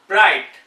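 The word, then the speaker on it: bright: किसी वर्ड के लास्ट में जी एच या जी एच टी हो तो जी एच यूजुअली साइलेंट रहता है।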